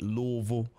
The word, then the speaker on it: Louisville: Let me say it right the way he taught me to say it. Louisville.